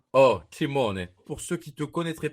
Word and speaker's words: Scimone: Simone, SC en italien, c'est chaud. Oh, Simone.